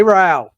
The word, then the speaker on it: Rao: Rhymes with cow. I remember you told me. Jay Rao.